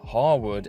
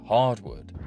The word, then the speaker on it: Harwood: El Burrow pronounces Harwood as hardwood.